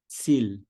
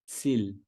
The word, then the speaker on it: Ziel: Terceiro padrão, a letra I mais a letra E. Então, I mais E. Soa como I em alemão, na esmagadora maioria das vezes. Quer ver um exemplo? A palavra Ziel. Ziel.